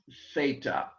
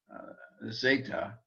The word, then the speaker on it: theta: learning greek and germany in which case you would say zeta and not theta because i think in germany because they can't say th sounds they learn it as an s sound but greek speak at today and of course we don't have a cassette of paul's bear a cd a pulse recording of paul speaking or preaching from the first century but greeks today use the th sound so we will as well so we have four